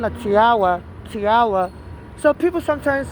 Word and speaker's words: Tiwa: She's a Nigerian and he was mispronouncing her name and people are noticing on the comment section. So what her name is Tuba Savage was called Tiwa.